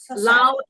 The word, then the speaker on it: Laos: So the plane of jars is in a country called Laos, and a lot of people say Laos, but the S is silent. It's Laos. Laos is in between Cambodia and Thailand, and then Vietnam, onto the east coast of Southeast Asia.